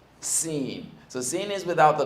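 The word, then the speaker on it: سين: Scene.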